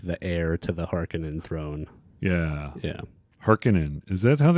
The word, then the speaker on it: Harkonnen: I pronounce it Harkonnen. I think people do both ways. I think in the movie they went with Harkonnen, but Harkonnen is always how I read it, so it's kind of hard for me to overwrite it in my mind.